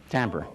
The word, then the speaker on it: timbre: It adds to the timber timbre. Right. I have trouble saying timbre when it's spelled timber.